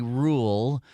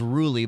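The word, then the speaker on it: Ruhle: was interviewed by Stephanie rule I thought it was ruly but I heard her say her name it was Rule and uh it it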